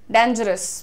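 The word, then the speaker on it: dangerous: खतरनाक के लिए जनरली डेंजरस बहुत सुन रही हूं मैं आजकल, डेंजरस ना बोल के डेंजरस बोलिए, डेन। डेन इज the pronunciation everyone, right.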